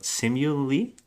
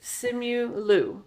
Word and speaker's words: Simu Liu: don't want to butcher this actor's name, but Simu Lee? Yes, Simu Liu, I think. Is it Simu Is it Liu? Liu or Lee? I already did it. It's I already Liu. butchered it. Simu Liu.